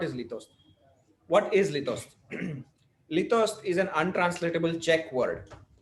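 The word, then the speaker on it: litost: Lithos is an untranslatable Czech word. Its first syllable, which is long and stressed, sounds like the wail of an abandoned dog.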